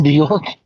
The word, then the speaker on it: Björk: Björk.